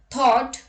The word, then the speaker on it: thought: GH is not pronounced when it comes after a vowel. Examples: thought, draught, through, thorough, borrow, daughter, light, might, sight, right, fight, wait, and wait.